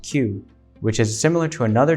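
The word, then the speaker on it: 九: calibers and in japanese the number 9 is pronounced q which is similar to another japanese symbol pronounced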